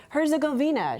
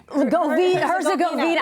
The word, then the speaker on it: Herzegovina: You know how I'm remembering in my head how to say it? Like, Herzegovina, she'll have a glass of wine. Herzegovina, I like that.